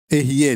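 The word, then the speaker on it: אהיה: R-E, diga R-E. Eu sou. E se escreve desta maneira assim, certo?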